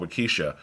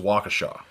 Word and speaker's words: Waukesha: because there's there's a town in Wisconsin called wykisha but it looks like what it looks like wykisha but it's pronounced Waukesha well the whole that's weird it's an it's